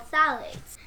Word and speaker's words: phthalates: hormones there are also chemicals called phthalates the ph is silent you know they can